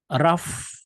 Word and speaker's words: rough: itu sangat eh pucat RF RF adalah adjektif ini pengucapannya When something is R